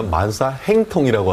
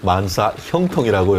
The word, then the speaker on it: 만사형통: 아까 처음에는 제가 들어보니까 만사행통이라고 하다가 마지막에 다시 한번 반복할 때는 만사형통이라고 이렇게 정확하게 발음을 하시는 것 같은데요.